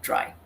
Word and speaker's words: trie: data structure called a tri some people pronounce d-r-i-e as tree because it comes from retrieve but it's also fairly common in the community to pronounce it as try and i'm going to